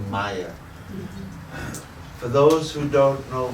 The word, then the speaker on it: Maya: the word is called Maya for those who don't know much about this room is made up of two syllables ma and yeah ma means not and